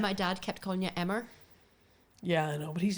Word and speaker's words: Emer: You say, Emer like lemur. Yeah, well, that's what I say. I'm like, lemur? Emer rhymes with it.